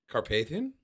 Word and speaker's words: Carpathian: the carpan mountain next to the what mountains Carpathian there you go yeah is that how you